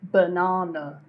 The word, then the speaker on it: banana: again repeat after me banana banana banana okay so the unstressed syllables here are B and N na is where you put the stress in banana okay banana uh another